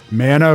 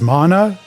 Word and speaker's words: mana: Mana versus mana? And like, granted, that's a small difference, and my understanding at least is that both are acceptable, but the fact that